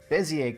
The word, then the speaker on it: Bézier: and not before is beier curves it's spelled weird because it's French um and then I